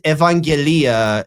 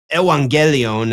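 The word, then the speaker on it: εὐαγγελία: him a lie but when he pronounces Evangelia as Evangelion and like says that it's a counterpart or He pronounces epangelia as a counterpart of evangelion. And it just he moves the stress.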